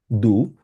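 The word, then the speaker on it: du: ইশ মানে হচ্ছে আমি দু এটাকে ডু না বলে ডে না বলে আমরা সাধারণত দ এর মত উচ্চারণ করব আমরা বলব হচ্ছে দু মানে হচ্ছে ইংলিশে হচ্ছে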